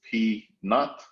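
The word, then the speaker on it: P₀: The way we pronounce that is P naught.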